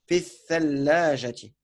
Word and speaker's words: الثلاجة: في Mais c'est une lettre shamsia, donc on dira في الثلاجة. Ah ouais, في الثلاجة. Donc, on ne prononce pas le L en fait.